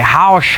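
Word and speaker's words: haux: of it they'll say Hausch, Hausch, Hausch, and it's a very like shh sort of at the end of it, and it's spelled H-A-U-X,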